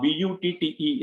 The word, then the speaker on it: butte: about page is this a place called tower butte now b-u-t-t-e is pronounced as butte uh um from page we